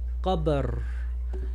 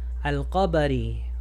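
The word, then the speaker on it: القبر: Muchas veces en el árabe, cuando terminamos una palabra, no pronunciamos el último harakat. Si lo pronunciara, al-qabari, al-qabari, pero como paré aquí, nomás pronuncio la ra como si tiene sukun, qabr, qabr.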